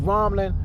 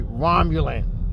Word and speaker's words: Romulan: they said a romp they can even pronounce the word romlin uh the vulcan to paul had to correct them and say romulan so i like that